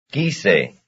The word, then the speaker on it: quise: Number 11. Quise. Quise. Quise, quise, that's the first syllable.